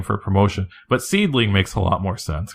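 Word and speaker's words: Seadlinnng: what ladies Japanese wrestling seedling is spelled real weird it's spelled like se a DDD l and ng or something like that and for the longest time I thought it said seed lining and I didn't know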